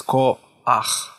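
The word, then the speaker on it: כוח: It should be pronounced and read as ko-ach.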